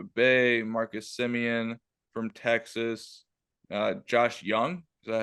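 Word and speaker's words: Josh Jung: So right now the starters for the American League, Jonah Heim for Texas, Yandy Diaz from Tampa Bay, Marcus Simeon from Texas, Josh Young, is that how you say his name?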